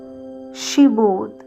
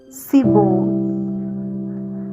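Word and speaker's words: Shibboleth: When he said no, they said to him, "Then say Sheboth." And he said Seboth, for he could not pronounce it right.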